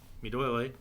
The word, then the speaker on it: Duole: So it's really awesome that there's groups like Duole. Did you hear that? Yes. You nailed it. Did I say that right? Excellent pronunciation.